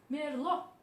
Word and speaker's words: Merlot: Merlot, Merlot também sem citar o T final. Essa é a pronúncia correta, tá?